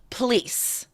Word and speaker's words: police: Police. What's changing about that? What changes about that word from how it's written to how it's spoken? That O, that first vowel, O, disappears, right?